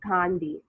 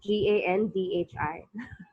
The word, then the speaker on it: Gandhi: a and bi and condi it's actually Gandhi GaN bhi Gandhi ya gonti yeah but I guess